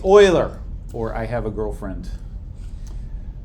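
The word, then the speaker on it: Euler: person's name is pronounced Oiler this is a German name don't say uler you will sound foolish they will tell you I have a boyfriend if they hear you say uler um it's Oiler or I have a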